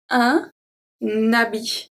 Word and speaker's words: un habit: Here we do the link. This is very important. Un habit. So this is because this H, the H muet, act as a vowel.